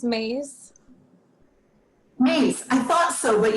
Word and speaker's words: Mais: It's Mais.